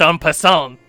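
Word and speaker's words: en passant: the N pissant move it's pronounced on pant and you quickly jab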